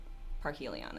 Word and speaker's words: Parhelion: or Park Helia well i'm pretty sure it's park Helion it okay we nailed it down once it's